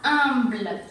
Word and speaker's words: humble: Tenemos UM, que aquí sí se pronuncia como A, Entonces sería humble.